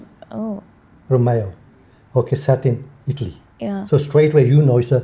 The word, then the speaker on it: Romeo: Now, Romeo is the Anglicized pronunciation. Mhm. It's actually Romeo. Oh. Romeo.